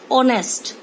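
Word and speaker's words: honest: एक पर्सन की बात है, एच साइलेंट है, pronunciation is ऑफ ओ, ऑनेस्ट।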